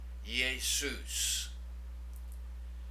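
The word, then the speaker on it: Ἰησοῦς: Now notice this smooth breathing right up front. It means you don't do anything. So this is pronounced Jesus. Jesus.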